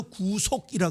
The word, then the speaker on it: 구속: 그래서 구속이라 그러는 겁니다. 구속은 길게 구자를 발음해야 됩니다.